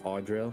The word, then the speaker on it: Odoril: Odoril, go ahead and say hello. Hello, everyone. I'm... Actually, it's actually pronounced as Odoril, and then like Audrey with an L.